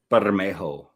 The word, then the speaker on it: Bermejo: Bermejo.